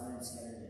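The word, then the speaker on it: Lynyrd Skynyrd: Those tracks eventually got put away, and instead the band released their debut album, pronounced Leonard Skinner, in 1973.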